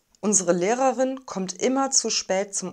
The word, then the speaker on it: Lehrerin: lehrerin lehrerin näherin lehrerin das l wird hell ausgesprochen manche sagen auch weich also und nicht dann haben wir ein langes geschlossenes und wahrscheinlich finden einige es schwierig die beiden er laute so kurz hintereinander zu sprechen unsere lehrerin kommt immer